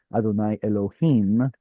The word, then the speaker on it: Adonai Elohim: How did you know to pronounce it as Adonai Elohim? How did I know? Hmm. Because that's what we were taught. Because of the Chirik right here.